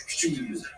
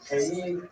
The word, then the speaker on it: Kyiv: But in Ukrainian, they have a slightly different vowel combination. The sounds are signed differently, and it is pronounced K-E. K-E. 2 syllables.